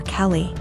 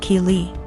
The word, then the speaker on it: Keely: A couple times more and I realized she was calling my daughter Kelly. My daughter's name is Keely, pronounced Keely.